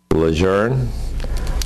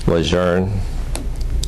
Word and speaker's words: Lejeune: of the Man known as the greatest leatherneck lour lour and lour for Patrick Brent there is no other way to pronounce it but he admits it's tough to